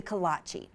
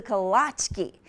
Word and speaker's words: kolache: the traditional Czechoslovakian pastry the kolache at least that's how we pronounce it in Austin home to K smq but people in Montgomery Minnesota might know best they're the fruitful delicacy is called the kolache and montgomery is the kawatche key capital of the world